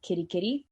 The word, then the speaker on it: Kitteh: And we released it under like an EDM name called Kitty Kitty. Oh, nice. But it's spelled Kitteh, kind of like the LOL cat Bible.